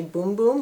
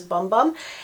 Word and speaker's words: Bum Bum: i've heard people say boom boom but for me it's pronounced it looks like it says bum bum and then also in